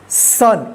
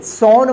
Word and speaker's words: son: चलिए आप देखिए सन, SON, सॉन मत पढ़िएगा, इसको क्या पढ़ेंगे, सन।